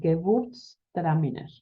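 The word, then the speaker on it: Gewürztraminer: una uva alemana que se llama kebust traminer que se escribe con g y w si vas a una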